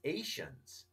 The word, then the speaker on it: Ascians: Facebook group, but like I actually saw Wolf's pronunciation in Castle of the Otter for what I would have said Ascians, right? Yes. For the people in the north. He says Asians, right?